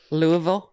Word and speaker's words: Louisville: everybody are used about how to pronounce that Louisville Louisville yeah it's real fast you don't want to make your mouth move too much while you're saying it okay and this was